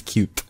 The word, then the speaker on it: Qt: I think they encourage you to pronounce it as cute.